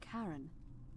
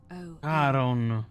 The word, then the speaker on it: Charon: It's just as you described it, only your pronunciation is a little off. The name you heard wasn't Karen. It was C-H-A-R-O-N. Caron. As in Charon, the ferryman of the dead.